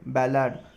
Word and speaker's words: ballad: Next word है बैलाड, ठीक है, BALLAD, बैलेड, बैलेड है उसका एक्चुअल प्रोनाउंसिएशन, BALLAD, बैलेड, ठीक है।